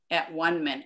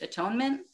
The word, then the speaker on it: atonement: Okay, so let's go on to chapter 2, the separation and the at-one-ment. And I know that this word is pronounced atonement, but I say at-one-ment because to me it